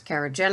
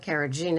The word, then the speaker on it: carrageenan: are two types of people pronounce it both ways kerogen and carotene and neither one should